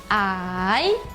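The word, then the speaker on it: 矮: Primeira palavra, ideograma baixo e se fala ai.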